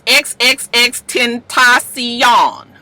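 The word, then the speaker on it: XXXTentacion: It's XXX Tentacion. Okay, XXX Tentacion.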